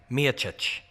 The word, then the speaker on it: Miocic: Whenever I need a perfect pronunciation, I ask my friend John Anik. Miocic. That's how he says it.